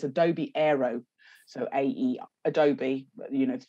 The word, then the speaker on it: Aero: my phone through so I don't say the name wrong, it's Adobe Aero.